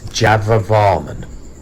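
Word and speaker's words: Jayavarman: in my excitement i've mispronounced the king's name in this one it's java varman hello and welcome again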